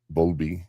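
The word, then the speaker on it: Bowlby: Yeah. Bulby. That's how you say it, right? Bulby. B O W L B Y. Bulby or Bulby. B O W L I like bowling but Bulby.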